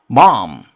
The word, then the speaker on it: bomb: 폭탄 영어로는 bomb. B는 소리가 나지 않습니다. 묵음이라고 얘기를 하죠.